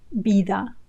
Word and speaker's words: vida: Sino que tenga vida eterna. Sino que tenga vida eterna. Sino que tenga vida eterna. Remember, vida with a b sound. Vida.